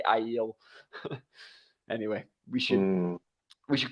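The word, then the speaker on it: Aiel: they're really pronounced so i always called them ale when i was uh you know ale and ailment and then it's ilman so uh that's another one that was like a big one that i just pronounced differently and i still have to try and make myself say i yield anyway we should we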